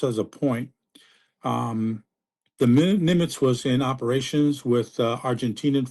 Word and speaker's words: Nimitz: Nimitz, am I pronouncing it? Exactly. Yeah.